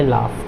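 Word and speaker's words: laugh: अब ये देखिए UGH है ना, तो यहाँ पे U जो है आपका ये साइलेंट होगा, क्या होगा साइलेंट होगा, तो इसको क्या बोलेंगे इसको बोलेंगे लाफ, क्या बोलेंगे लाफ।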